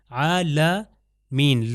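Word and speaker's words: عَالَمِين: ہی جگہ سے۔ عالمین، عالمین، لام کے اوپر فتح ہے، زبر ہے، عالمین کہنا ہے۔ اگر میں کہوں عالمین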